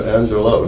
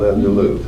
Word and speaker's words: Angelou: Maya Angelo who died she pronounces her name Angelo not Angelou but U and I